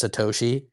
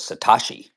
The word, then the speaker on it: Satoshi: who own Bitcoin that can't even pronounce Satoshi? I don't think it's I don't think it's a fantastic brand. I get that like people picked up on it and it'll work. I don't think it's a bad thing. Um, but if you're Jamie Diamond said it was Satashi.